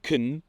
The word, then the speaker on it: can: osobny odcinek o tym Musicie po prostu wiedzieć że can bardzo często i myślę że nawet częściej niż can wymawia się k jak mówię to teraz samo kN to brzmi absurdalnie ale jak wkleję to